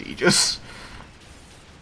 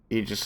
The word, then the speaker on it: Aegis: It's usually pronounced Aegis. It's a common word. Okay. Because there are other words where AE is debatable. Mm-hmm. You ready? Yeah. Aegis is pronounced like Eon.